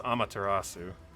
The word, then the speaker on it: Amaterasu: use that as the excuse for getting the name wrong it's amaterasu i've never actually ridden this mount i didn't